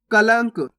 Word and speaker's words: कलंक: कलंक। सिंपल है, पहले आपको का पढ़ना है, उसके बाद लंक, अपना आप बन जाएगा कलंक।